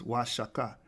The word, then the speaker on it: Oaxaca: The O in the Spanish codices is pronounced wa. The X in the Spanish codices is pronounced sh, because they couldn't pronounce